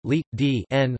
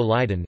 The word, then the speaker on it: Leiden: Leiden, Dutch pronunciation, Leiden, listen, in English and archaic Dutch also Leiden, is a city and municipality in the province of South Holland, Netherlands.